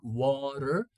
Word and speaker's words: water: we talked about water in American English we pronounce like water water we change the t into a flap t again you can call